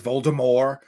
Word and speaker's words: Voldemort: Voldemort, like he's pronounced without the T in the books. He's Voldemort.